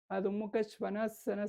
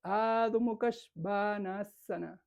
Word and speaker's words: Adho Mukha Svanasana: Y no se dice, por ejemplo, Adho Mukha Svanasana, se dice Adho Mukha Svanasana. Es muy diferente, ¿no?